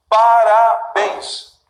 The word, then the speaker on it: parabéns: Parabéns. Sílaba tônica? A última.